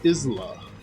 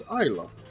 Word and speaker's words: Isa: I would think her name was Isla, but it's Isa. I guess the S is silent.